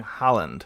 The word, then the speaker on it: Haaland: Holland, not Holland. Erling Haaland. I don't know if I'm probably pronouncing that incorrectly. But pronounced more like Harland or Horland with the accented ah.